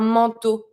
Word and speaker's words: manteau: Then un manteau. Manteau. Careful with the pronunciation on this one. A-N makes the sound en. E-A-U makes the sound O. Just like the letter. Un manteau. Un manteau will be a coat.